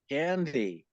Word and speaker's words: Kandy: So there, Baba answered our question. Isn't that amazing? That's how you pronounce it, Candy.